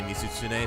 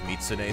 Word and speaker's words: Mizutsune: of all time is mizutsune is real good uh but she can't quite say mizutsune so it comes out as mitsune sometimes and i'm like that's not right but close close enough hey look there there's